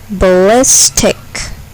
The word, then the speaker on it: ballistic: syllable is accented computer ballistic ballistic here the second syllable is accented ballistic metropolis metropolis here the